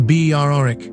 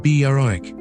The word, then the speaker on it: Berwick: On a Saturday afternoon in Tweedmouth, the Berwick, not Berwick, the W is silent, Rangers goalkeeper takes a goal kick down a Scottish League pitch that lies entirely in England.